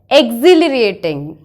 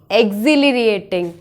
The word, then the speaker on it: exhilarating: of very exciting we can use the word exhilarating exhilarating the pronunciation of this word is auxiliariating can you